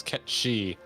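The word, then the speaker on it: cait sith: rabbon sean bean and kate sith is a gaelic word pronounced in the language as que she yeah no i'm just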